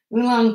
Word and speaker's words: oolong: it in a cafe or something okay so oolong tea for the splatter thank you nancy now